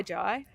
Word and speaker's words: Jai: I'm sorry Joel Jai we know it's Jai like y like why Jai yep basically or hindly